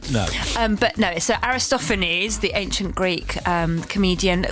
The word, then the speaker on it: Aristophanes: Now I pronounced his name Aristophanes. Aristophanes. Aristophan. Listen listen. I know. Yeah. I said Aristophanes. And my Listen. I My 10year-old son said, "Mommy, don't say that in public. It's Aristophanes."